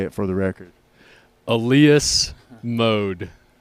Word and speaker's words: Elias Mode: ELIAS Mode. ELIAS Mode.